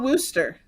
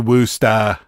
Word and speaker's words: Worcester: worse just yeah but it's called Wooster yeah yeah I only know that but you're not saying it right woosters what we call it whatever it's a woosta okay you gotta say it with the map the Massachusetts okay whatever because we